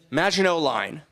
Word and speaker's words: Maginot Line: the German, right, on that, how do you pronounce the line? The Maginot Line.